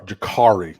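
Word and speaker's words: Jacurri: crystal ball said clearly Jacory Brown sorry Jakari the eight the U is in supposed to be an A but I can't say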